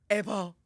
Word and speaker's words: Apryl: My mom does not say my name is April. It's Apal.